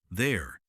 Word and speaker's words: there: This has a short sound. This. There sounds like there. Yes, this rhymes with miss. There sounds like air with a th at the beginning.